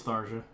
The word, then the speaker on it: Tharja: Tharja, I don't know how you pronounce it. Matt, you're the expert. You probably jacked off to her multiple times. That's Tharja.